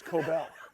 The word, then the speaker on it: Kobel: As Kobel, or as Greg says, you're saying it wrong. It's Kobel, which he said to the guest.